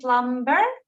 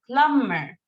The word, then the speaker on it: plumber: one is a lumber we don't say plumber we say plumber okay the plumber plumber good with without B without TB yes Lumber you're right bumper